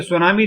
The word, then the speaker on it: tsunami: यानी कि सुनामी जो है वो लफ्ज है जापानी जुबान का और जापानी जुबान में TSU सु टी साइलेंट है।